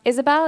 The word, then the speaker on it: Ysabel: my name is Isabelle it's pronounced Isabelle it's just spelled a bit weird um and my pronouns